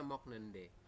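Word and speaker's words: 먹는다: Jadi dibacanya mok nende. Mok nende gitu ya.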